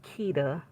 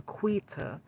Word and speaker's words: Quita: her name because um the narrator was saying Keeta and then it was other Tik Tockers were calling her Quita cuz her name is spelled Q U I T A.